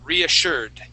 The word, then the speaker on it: reassured: Okay, give me a good D sound at the end. Reassured.